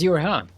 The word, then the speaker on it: Yureha: And this also proves that the zero is silent. That is Yureha.